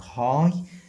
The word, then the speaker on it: high: عندي ال GH لا تنطق high يعني عالية.